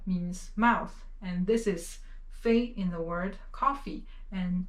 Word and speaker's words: 非: So this character, the pronunciation is 非.